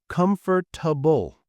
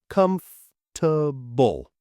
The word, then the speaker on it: comfortable: meetings mistake number two comfortable wrong comfortable right comble we don't pronounce every syllable English is lazy embrace it mistake number three dessert versus dessert Remember desert means dry place.